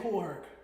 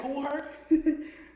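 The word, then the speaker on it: Kool Herc: DJ Koolh. Okay, that's why you're you're saying it hella weird. DJ Cool Herk.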